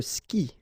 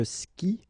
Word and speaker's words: skie: And it's exactly the same rule, so you've got this after, but then clearly you don't pronounce it, okay? Elle joue. And then, je skie, okay? Exactly the same thing, je skie, okay?